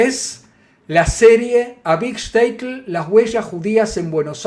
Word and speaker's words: Shtetl: Claro, claro, Shtetl, Bueno, como mi se bobe, escribe, obvio. claro, se escribe sin I, Shtetl, ¿no?